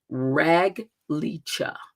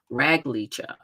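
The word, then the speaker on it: רגל: the number is 7272 right and it is pronounced rag Lea rag Lea okay and it means to be able to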